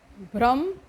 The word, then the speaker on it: भ्रम: क्या होता है कि भ और ब का जो उच्चारण है वो एक जैसा साउंड करता है, तो इन्हीं को हम होमोफोन्स कहते हैं ना इंग्लिश में, कि उच्चारण मतलब सेम सा हो जाता है, तो वही चीज़ है। तो कई बार वो भ्रम और ब्रह्म, ठीक है, ये चीज़ आप ध्यान रखिएगा।